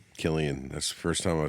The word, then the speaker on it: Cillian: Is that how you say his name? Oh, Killian. Killian.